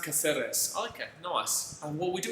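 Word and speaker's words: Cáceres: Julian Vittori says it's pronounced Caceres.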